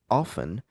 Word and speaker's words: often: So, how often? Si vous voulez, vous dites often. Si vous voulez, vous prononcez la lettre T.